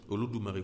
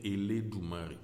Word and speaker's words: Olodumare: Olodumare qu'on peut encore prononcer Eledumare. Voilà.